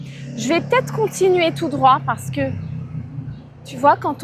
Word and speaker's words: tout droit: Quand tu vas tout droit, tu ne dois pas prononcer le T, tout droit.